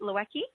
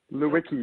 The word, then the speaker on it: Lewicki: I see it right Lewicki Lewicki oh yeah just like it's on a wiki w le WIC ki-10